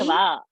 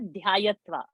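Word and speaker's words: ध्यात्वा: Pachati paktva, dhyayati, dhyayatva, dadati, Dhyatva. No, not dhyayatva. Dhyatva. dhyatva, dadati, taktva, Hmm.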